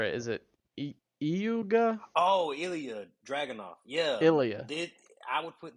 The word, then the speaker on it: Ilya Dragunov: I'm gonna mispronounce it, but you're gonna correct me when you hear it. Is it Iuga? Oh, Ilya Dragunov.